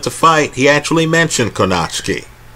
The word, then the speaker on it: Kownacki: Kownacki, I understand he pronounces it. Forgive me on the pronunciation.